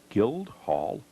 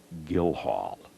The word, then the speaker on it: Guildhall: yards away is this Guildhall Vermont whoops i mispronounced the name the sign here says that the D is silent like my daddy used